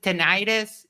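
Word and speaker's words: tinnitus: tin yeah Tinus uh some people pronounce it tentis but it the I think correct tenus yes all right so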